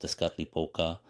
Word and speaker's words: Tezcatlipoca: Tezcatlipoca, pronounced Tezcatlipoca, the night sky god, and the other was Quetzalcoatl, the wind god.